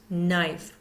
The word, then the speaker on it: knife: Silent consonants at the beginning of words, silent K. No, night, Knife, we're not hearing the K in those words.